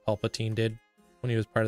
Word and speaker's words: Palpatine: It's pronounced Ovaltine. What? I don't know if you guys are messing with me. Palpatine. There's no way it's pronounced Ovaltine. Dude, Palpatine.